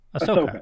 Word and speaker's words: Ahsoka: You know, and finding out that I can't never pronounce her name right. Ahsoka. Ahsoka.